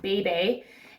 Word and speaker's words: bebe: I've always called it Beeb, although I think it's actually pronounced Bebe.